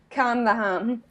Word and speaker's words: Calm the Ham: if people don't know say that in irish your accent calm the home right so in my accent it rhymes and when i was